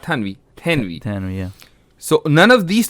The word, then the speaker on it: Thanwi: Hazrat Thanwi rahimahullah passed away in 1940s.